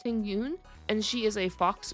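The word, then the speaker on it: Tingyun: I believe her name is pronounced Ting Yoon, and she is a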